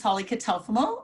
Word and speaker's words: Holly Catalfamo: did an amazing job because um it's frequently mispronounced my name but uh my name is holly kitulfomo and uh yes i'm really pleased to be